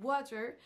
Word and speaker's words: water: se passe en anglais il y a une des deux syllabes qui va ressortir plus que l'autre et c'est la